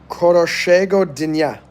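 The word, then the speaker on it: хорошего дня: Koroshego Dinya. How's that? Koroshego Dinya. Koroshego Dinya. That's how you pronounce it.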